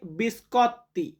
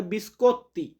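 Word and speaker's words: biscotti: রেখেছি বিস্কুট বিস্কুট এটাকে Italian ভাষাতে বলা হয় বিস্কত বিস্কত শব্দের অর্থ বিস্কুট বা অনেকে উচ্চারণটা এভাবে করে বিস্কত্তি তো ওর উচ্চারণটা আমরা ইতালিয়ান আলফাবেততে অর মত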